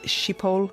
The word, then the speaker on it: Schiphol: back to his native Schiphol Airport? Would that be the right That's right, pronunciation?